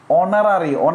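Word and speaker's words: honorary: অনারারি উচ্চারণ করতে গেলে আমার এই উচ্চারণ হয় না, অনারারি ম্যাজিস্ট্রেট, তার মানে কি বলেন তো?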